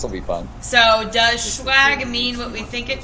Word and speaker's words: Schwag: It's a German word that means humility, and it's pronounced Schwag, really.